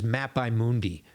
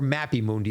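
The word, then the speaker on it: mappae mundi: a classification of maps known as map Mundi or mapy Mundi if we want to go with the conventional modern pronunciation either way it's the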